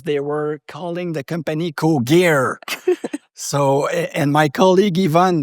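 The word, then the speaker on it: Cogir: So Cogier is a French name, so it's Cogier.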